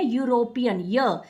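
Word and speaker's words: European: लेकिन अगर हम ई जो है यहाँ पे हम ई नहीं पढ़ रहे, हम इसे पढ़े यूरोपियन, यानी कि जब हम इसे प्रोनाउंस करेंगे तो इसमें साउंड जो आएगा वो कॉन्सोनेंट का आएगा, यूरोपियन।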